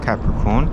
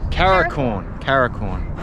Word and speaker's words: Capricorn: Right, so there's a little bit of a story behind the Tropic of Capricorn. Tori doesn't know how to say it correctly. So every other time she calls it Tropic of Caracorn.